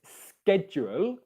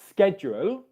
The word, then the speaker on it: schedule: if you want the american pronunciation it's schedule you've got a s sound followed by a c sound schedule but both of them